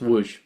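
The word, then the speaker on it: Łódź: Does he mean Lodz? But no, it's pronounced Lodz. In fact, I'm probably still not saying it perfect.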